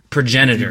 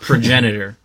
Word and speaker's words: progenitor: For those of you who don't know, or if you're living under a rock, Bardock the progenitor, and it's pronounced progenitor. PBS priorities. It's pronounced progenitor, so progenitor.